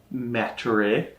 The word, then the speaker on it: Maturate: I think it's pronounced Maturate. Maturate. Which isn't anything against your pronunciation. I don't think I've ever said this word out loud myself. Like there's no T at the end.